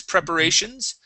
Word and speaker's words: preparations: Okay, let's practice preparations. Preparations. So stress right here on this A.